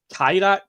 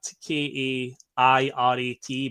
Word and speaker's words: Kairat: I believe it's pronounced like Kairat, Kairat, but they won 1-0.